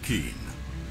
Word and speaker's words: Keen: Oh, it's pronounced Keen.